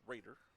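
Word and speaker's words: Roeder: brings up Ryan Raider Raider spells his last name r o e d r pronounced Raider where's number 99 right-handed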